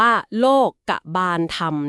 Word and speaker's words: โลกบาลธรรม: นี้ คือ โลกบาลธรรม ค่ะ อ่าน ว่า โลกธรรม นะ คะ เรา ไป เจอ ข้อ